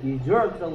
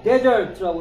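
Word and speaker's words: desert: 그래서 디저트라고 읽으면 버리다. 네? 후식은 여기 있고요. 네? 얘를 데저트라고 읽으면 첫 번째 음절에 강세가 오면 사막. 얘를 여기다 강세를 넣으면 얘랑 발음이 똑같아지는데 뭐라고 디저트가 된다고.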